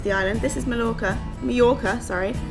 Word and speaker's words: Mallorca: island this is MCA mayorca sorry Double L is pronounced with a Y this is mayorca um and we are